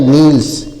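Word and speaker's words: kneels: एन ई एल एस तो के को साइलेंट कर दिया जाएगा एन इ है तो न पर बड़ी मात्रा नी हो जाएगा और एल एस है तो आधा ल और स हो जाएगा नील्स क्या पढ़ा जाएगा नील्स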